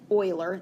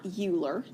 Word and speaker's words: Euler: up now there's a guy a mathematician named euler this is not euler that's what it looks like okay it is